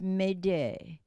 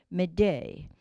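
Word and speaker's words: m'aidez: And it really comes from the French word, which is, I'm not sure if I pronounce it correctly, but it's Médée, Médée.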